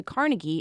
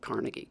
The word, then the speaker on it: Carnegie: a word like that with three syllables, the stress is typically on the first syllable. So, if you think of a word like carnival, Carnegie, carnival or character with